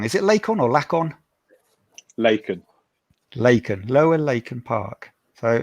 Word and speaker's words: Laken: Is it Laken or Laken?